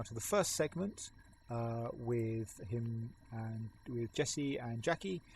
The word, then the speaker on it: Atch: with us here and H from H Attachments, which I thought was Atch, but I'm glad that we have the people that pronounce things correctly because it's H.